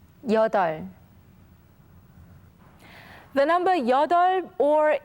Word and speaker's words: 여덟: Okay, let's begin with the case when we can only hear the 리을 sound. Please listen to 선생님. 여덟, 여덟, 여덟.